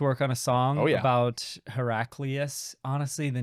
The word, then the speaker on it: Heraclius: What wait, was it Heraclius? Cleo? Cleos? No. Cleo maybe Cleos. Well, it's funny because the first two syllables sound like hero itself, Heraclius.